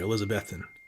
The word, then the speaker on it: Elizabethton: I learned how to say the right way Elizabethton Eric agreed bro agreed uh way we had